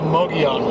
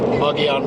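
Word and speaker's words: Mogollon: Mago on multiple of Malaga and cream it's pronounced the moji on red so that it looks nuts take some time getting used to it but so you know it's pronounced buggy on rent anyway that's where we're going we're going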